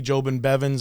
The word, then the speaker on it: Jobin-Bevans: to bring a good friend of mine sandy jobin bevins on the show tonight ladies and gentlemen put